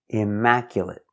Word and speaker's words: immaculate: immacu immacula immacula T Immaculate Immaculate again finish with the stop T Immaculate Immaculate four syllables the stress is on the second syllable Immaculate Mac stress is on Mac immaculate Immaculate completely clean